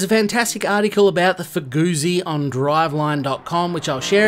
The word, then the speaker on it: Fugu Z: No, this one is the Fugu Z, unless you pronounce ZZ, as the car owner does, who simply calls it the FuguZ.